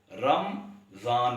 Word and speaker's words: رمضان: ہمارے اکثر تعلیم یافتہ اصحاب بھی رمضان کو رمضان پڑھتے ہیں، یعنی میم کو متحرک پڑھنے کے